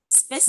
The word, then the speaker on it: спасибо: Spasiba. Yeah. Yes, great. Is it correct pronunciation?